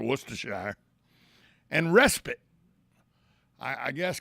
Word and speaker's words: Worcestershire: that's hard to pronounce worcestershire i mean you hear people say worchester all kinds of things for worcestershire and respite i i